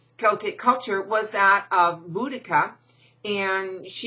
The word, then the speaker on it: Boudicca: culture was that of Boudicca and her name is spelled different ways and pronounced different ways by Buddhika is probably closest to it and how